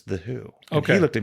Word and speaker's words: Who: I'm here to meet the Hugh.